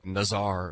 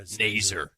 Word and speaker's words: Nazur: little too fancy and tried to go with Nazar or something like that. Yeah, Nazur. It rhymes with laser.